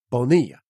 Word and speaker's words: Bonilla: year oh Bobby Bonilla he yelped Bonilla not vanilla Bobby Bonilla exactly I